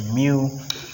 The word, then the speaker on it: mu: force because if i make mu s it's pronounced mu because it's a great letter if i make